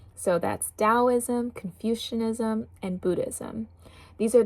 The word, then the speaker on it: Taoism: I always call it Taoism cuz of that T, but it's pronounced Taoism.